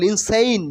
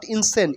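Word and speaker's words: insane: egoist egoist মানে অহংকারী ইনসেন মিন পাগল ইনসেইন নট ইনসেন ইনসেইন ইনসেইন মিন পাগল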